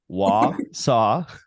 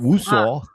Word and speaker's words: Wausau: She's out of Wausau. So all you out-of-staters here, we're going to pronounce it correctly. Wausau, not Woosau.